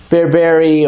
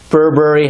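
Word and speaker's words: berbere: going to be adding this is bberry or Burberry however you want to say it there's various pronunciations we found here on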